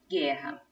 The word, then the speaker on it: guerra: separando a letra c em qual palavra a letra u não é pronunciada e portanto com pão